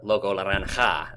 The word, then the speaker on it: Loco Laranja: is this person is Loco Laranja, or Loco Laranja, I suppose is what the proper Spanish pronunciation is.